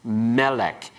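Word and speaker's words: מלך: will change all right here we have a noun Melech everyone pronounce it Melech and we put the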